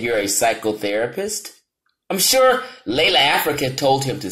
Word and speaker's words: Llaila Africa: His name is Brother Llaila Africa. Do you pronounce that Africa? As Llaila Africa.